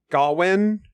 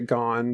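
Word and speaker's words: Gawyn: a little bit about the gone gwin sorry I always pronounced it gone because I want him gone this pronunciation I can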